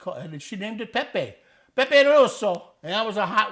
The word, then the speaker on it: pepe rosso: Red pepper is pronounced as Pepe Rosso. Yeah. Pepe Rosso.